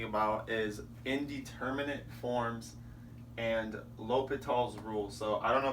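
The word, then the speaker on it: L'Hôpital: He was a French mathematician, but I believe it's L'Hopital. But if any of you speak French, sorry if I butchered that.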